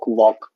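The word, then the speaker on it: walk: Half, टॉक, वॉक, है ना, half में एल साइलेंट हो रखा, टॉक में एल, वॉक में एल।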